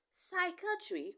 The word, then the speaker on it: psychiatry: the p is silent Psychiatry contains letter P but the p is equally silent whenever P comes before